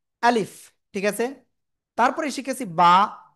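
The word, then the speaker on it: ب: ঠিক আছে তারপরে শিখেছি বা দুই ঠোটের ভিজা অংশ থেকে এক আলিফটা নিয়ে উচ্চারণ করব বা এরপরে শিখেছি এই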